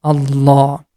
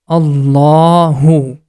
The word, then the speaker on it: Allah: it we have to make the ah sound in the beginning and it becomes Allah as we got it that in the name of Allah we have to pronounce this La sound with thick sound and also the last sound becomes for two count because of the Hidden small alif this one becomes Allahu and now we got